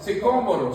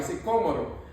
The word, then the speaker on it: sicómoro: donde estaba subido el enanito, sicómoro, sí, que tiene un acento en la O ahí, sicómoro.